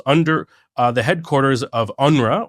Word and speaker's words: UNRWA: uh the headquarters of unra or as how we pronounce unrwa the UN relief and